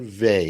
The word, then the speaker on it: Weil: by the renowned philosopher and social activist simone weil and that was published in 1950 yes um so simone vay it's actually pretty very well i checked and